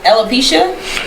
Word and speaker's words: alopecia: her yes at that time right she had alopecia is that how you say it yes that's